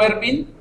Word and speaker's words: Erwin: No, es que, por ejemplo, yo me llamo Ervin, pero se escribe Erwin.